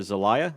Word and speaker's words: Zelaya: My guest today is Zelaya. Is that pronounced right? Zelaya? That's right.